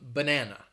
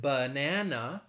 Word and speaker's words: banana: that is the schwa so in the word banana three syllables the schwa is in the first and the second syllable so you see it twice that sound twice in there banana or even the